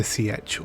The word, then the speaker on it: Sietch: This is likely Sietch Tabr, and this is what it looks like underneath a Sietch, or Sietch as it will be pronounced in the movie.